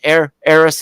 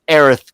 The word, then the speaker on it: Aerith: the original game aerith her her name is pronounced air heiress in the in the english for versions it